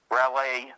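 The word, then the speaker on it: Raleigh: Stein r r a w how do you spell it R A L E I G H rally oh rally I mean rally f t e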